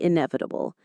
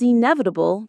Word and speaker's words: inevitable: Death and taxes are often said to be inevitable. If you stand outside in a heavy rainstorm without an umbrella, it is inevitable that you will get wet. Pronunciation. Inevitable. Inevitable. The stress is on the nev syllable.